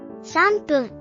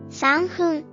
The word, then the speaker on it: 3分: Following the formula, we change the F to P, pronouncing it as 分 So 3 minutes in Japanese is 3分 However, Japanese is a living language.